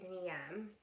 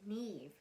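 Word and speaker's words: Niamh: nine girl a woman named niam um sorry i said her name wrong her name's neve it's just it's spelled n-i-a-m-h but it's neve and um she is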